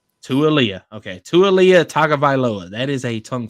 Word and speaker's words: Tua: I believe, and I haven't been corrected on it, but it's Tualia. Okay. Tualia Tagovailoa.